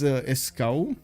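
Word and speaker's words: Escaut: It's because in French it's a complete different name. It's Escow or Esco.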